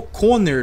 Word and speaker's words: Connor: isso aí Brian o Conor que seria o coner na verdade né a pronúncia correta muito legal velho esse